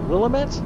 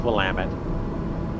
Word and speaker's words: Willamette: How do they pronounce it? Willamette? No, I think it's Willamette.